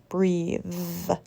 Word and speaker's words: breathe: clothes breath versus breathe the first word is voiceless bath cloth breath the second word is voiced bathe clothes breathe what do you think